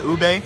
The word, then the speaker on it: ube: They didn't know how to pronounce it. They're like, "Is this ubi? Ube?" And then I just like went up to them and was like, "Yo, can I get the ube?"